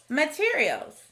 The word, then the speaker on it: materials: our first word is materials in this word we hear the sneaky schwa sound in the first syllable ma instead of math we also see an